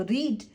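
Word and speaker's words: read: एक साथ चलती हैं रीड सिर्फ बोलने का अंतर आ जाएगा रेड रेट स्पेलिंग सेम है रीड रीड रीड नहीं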